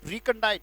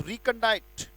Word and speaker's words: recondite: रिकंडाइट, right, रिकंडाइट। उच्चारण बोलेंगे, शाबाश, रिकंडाइट। फिर से बोलेंगे रिकंडाइट, RECONDITE, रिकंडाइट।